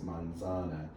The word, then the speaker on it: manzana: manzana the stress goes on manzana that's the second to last syllable normally that's the normal case we call the normal case manzana second to last syllable gets the stress here you have two